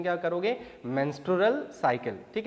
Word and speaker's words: menstrual: मेंस्ट्रुअल cycle, pronunciation क्या करोगे, मेंस्ट्रुअल cycle, ठीक है.